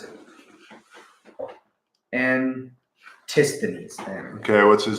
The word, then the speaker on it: Antisthenes: Antithenes? I guess that's a quote. That's fucking awesome. Oh, the guy? No, I don't know who the hell that is. Pronounce it. Antisthenes.